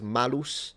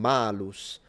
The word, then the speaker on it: malus: a double meaning because malus and malus they sound almost the same. The only difference being the length of the vowel and it can mean apple or evil.